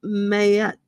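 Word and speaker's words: Maat: I pull for you, Mayette is how it's pronounced.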